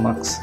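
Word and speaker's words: mosque: কি, সাত গম্বুজ মাস্ক, কিন্তু এটার অর্থ বাংলায় আমরা মসজিদ, আমরা অনেকে এটাকে মক্স করি, এটা মক্স হবে না, মাস্ক।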